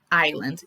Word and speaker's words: island: bronx and staten island island is the pronunciation okay without the s new york city has